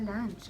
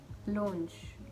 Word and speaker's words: launch: yeah yes i have had like 10 000 pronunciations of this word for lunch i heard someone almost said lunch and i